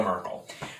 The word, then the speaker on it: Merkel: that somewhere it's angela merkel pronounced somewhat apparent appropriately perhaps like urkel as in steve urkel so it's angela merkel